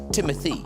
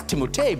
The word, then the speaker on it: Timothée: 티모테인지 헷갈려 한다고 하는데 Timothy. It's pronounced Timothy. I always thought, I don't know if you guys, I thought it was Timotei because of the double E's at the end.